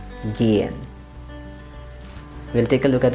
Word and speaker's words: gehen: That means it becomes gehen and the vowel sound is long. So let's pronounce it gehen.